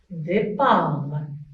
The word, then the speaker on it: départ: Et aussi, T, c'est une lettre muette. On ne la prononce pas. On écrit, mais on ne la prononce pas. On dit départ.